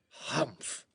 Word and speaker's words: humph: "Humph," said the Sand Fairy. If you read this story aloud, please pronounce humph exactly as it is spelt, for that is how he said it.